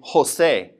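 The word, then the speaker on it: José: For example, for example, the name Jose. We're going to breathe that J like an H in English.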